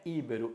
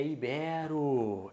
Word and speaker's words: ibero: lá Portugal e Espanha quem é de lá não é ibaro é ibero ibero-americano a um congresso